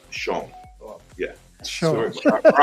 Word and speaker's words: Chão: Yeah, it's actually pronounced Chão.